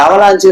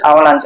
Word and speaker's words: avalanche: அவலான் என்னன்னு சொல்லி பார்ப்போம் சிலவங்க வந்து அவலான் சொல்லிட்டு தொன்சியம் பண்ணுவாங்க அதை உச்சரிவு பண்றாங்க அதை அவாஞ்சுன்னு சொல்லி படிக்கிறது படிக்கக்கூடாது அவலாஞ்சி அப்படின்னு சொல்லிட்டு உச்சரிக்கணும் இந்த அவலாஞ்சிங்கிறது பணிச்செறிவு இப்ப